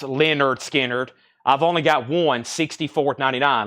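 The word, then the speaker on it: Lynyrd Skynyrd: is the next one the debut album pronounced Leonard skinnard I've only got one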